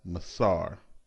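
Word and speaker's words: מעשר: from the hebrew word which is pronounced as masar the word masar is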